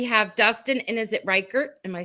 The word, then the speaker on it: Rikert: John Putch rhymes with Dutch. Dutch. And we have Dustin, and is it Rikert?